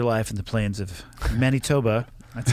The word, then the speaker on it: Manitoba: And I know you started your life in the plains of Manitoba. That's how I say it. That's the exact correct pronunciation.